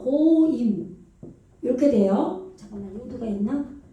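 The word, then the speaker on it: גוים: 고임. 요거 돼야지. 요렇게 기멜이 왔죠? 이게 지금 오죠. 오 발음이죠. 고임.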